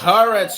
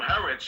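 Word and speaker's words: Haaretz: publication is a news is a news it's pronounced haret you idiot that's what I told him haret you white yeah it's just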